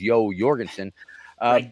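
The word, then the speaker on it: Jorgensen: to Joe uh Joe Jorgenson Oris my Norwegian friends say the correct pronunciation of course is Yo Jorgenson but in any case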